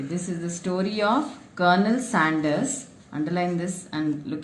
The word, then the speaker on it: Colonel: Okay, this is the story of Colonel Sanders. Underline this and look at the pronunciation, children.